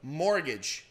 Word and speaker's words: mortgage: Então você viu que ele não falou o T, ele acertou. Só que na realidade, essa palavra, a situação é na primeira sílaba. Então fica mortgage. Mortgage.